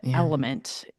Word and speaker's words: LMNT: Element phonetically.